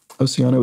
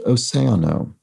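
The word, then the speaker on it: océano: on the Spanish word for ocean Sam says Oceano is pronounced oseano so thank you so much for that correction Sam AKA Frisco 17.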